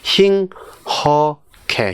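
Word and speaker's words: 힁하게: 예, 힝어케도 아니고, 힝허케.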